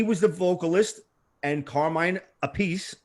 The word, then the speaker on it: Appice: He was the vocalist, and Carmine Appice, he pronounces it Appice, was the drummer, and